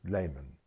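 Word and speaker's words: Lehman: to impose the writer Ernest Layman, probably pronounced Leman in America, on him, and he didn't take Kylie Leman.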